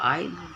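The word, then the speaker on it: aisle: है उसको भूलते आई इसमें यह वर्ड साइलेंट है उच्चारण होगा आए तो हॉबल्ड मतलब सिवास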